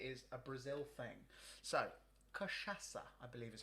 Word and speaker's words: cachaça: So, cachaça, I believe is how you say it.